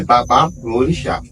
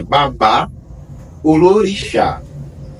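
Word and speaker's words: babalorixá: forma pronunciada no yorubá Aqui no Brasil é B lorix que é uma compreensão da palavra que o O correto é babá ol lorix babá pai ou l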